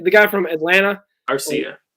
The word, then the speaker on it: Arcia: I mean, they just DFA uh uh Aruria or Arc Syria. I don't want to say his name. The guy from Atlanta. Arcia. Arcia.